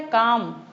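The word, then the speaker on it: calm: दूसरा है काम। सी ए एल एम। अब स्पेलिंग है इसकी सी एल एम। लेकिन बोलेंगे तब क्या हो जाएगा यह काम तो एल साउंड मिस है यहां पर मिसिंग है एल की साउंड हमें सुनाई नहीं दे रही है तो इस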